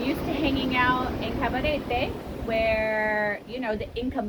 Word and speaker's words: Cabarete: But it is cabaret, not cabaret. Not cabaret, but cabaret. You got to just roll your R a little bit.